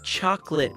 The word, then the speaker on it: chocolate: Wait, is the O in chocolate silent, too? Yes, most people say chocolate with two syllables.